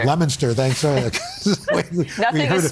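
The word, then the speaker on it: Leominster: This is Lemonster. Lemonster, thanks. Nothing is spelled we the way heard it's about said.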